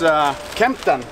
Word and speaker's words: Kempten: So yeah, we are now in Munich at the airport and heading towards Kempten. Did I pronounce that correctly?